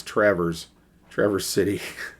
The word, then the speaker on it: Traverse City: It's funny because I saw the word Traverse, and of course, it's not pronounced that way for the city. It's Traverse City.